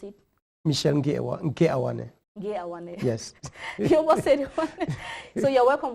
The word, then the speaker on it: Michel: by with a instead of e yeah just pronounce it michelle yeah yes so you're welcome once more to